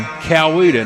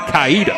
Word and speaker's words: Coweta: Coweta County. Say it again. Coweta County. Coweta. Now, if you're really from over there a long time, you might hear people say it Caida.